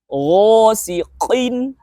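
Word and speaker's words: غَاسِقٍ: Nah, tapi jangan sampai kita membaca qaf yang berharokat kasroh ini terlalu berlebihan. Seperti ini. Ghasiqin, qin. Nah, itu hampir sama seperti qalqalah kubro jadinya. Jadi cukup bacanya dengan cara menekan lidah bagian belakang ke langit-langit atas yang lunak ya, paling belakang itu.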